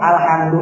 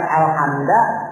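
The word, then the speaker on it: الحمد: berarti ijma ulama sepakat bahwa huruf alhamdu itu harakatnya adalah domah bukan alhamda bukan alhamdi karena nanti ada pembahasan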